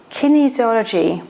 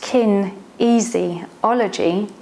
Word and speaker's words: kinesiology: and how it works kinesiology pronounced kin easy ology is essentially the study